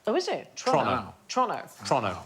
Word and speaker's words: Toronto: than it should be so it's Toronto not Toronto OH is it tonon Toronto Toronto like as quick